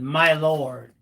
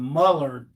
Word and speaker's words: Milord: had a student whose last name was Milord, but he pronounced it my lord. And I call him Mullard because I refuse to call him my lord.